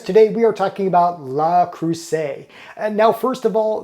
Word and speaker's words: Le Creuset: pronunciation of its name yes it is La Crusade not lay Crusade despite the way it's spelled now when comparing the enameled